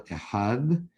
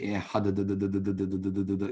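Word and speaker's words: אחד: You don't say ehad. You're pronouncing it a long time. What you really need to do is the dalid without a dagesh is like the th sound, ehad, like you're saying the, and then you close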